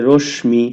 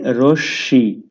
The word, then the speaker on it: রশ্মি: এরপরে আসি রশ্মি তো অনেকে রশ্মি এই উচ্চারণটা ভুল করে অনেকে বলে রশ্মি অনেকে বলে রশ্মি কোনটাই হবে না হবে রশ্মি তালব্যস এটা দুইবার উচ্চারিত হবে বা দীপ্ত উচ্চারিত হবে তো রশ্মি কাকে বলে